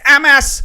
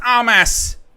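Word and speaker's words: Amass: It's Amas, not Armas.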